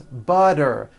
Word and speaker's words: butter: Please pass the butter. This should be simple. So now that you know that, practice saying this poem with me. Remember, all the T's are pronounced as D's because they fall between vowels.